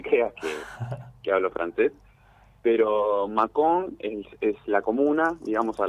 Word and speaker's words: Mâcon: Es Mâcon, porque tiene acento la A.